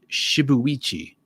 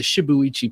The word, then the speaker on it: shibuichi: well with shibuya pivot shibuichi right you pronounce every every letter right in japanese that looks like it's japanese shibuichi pivot okay please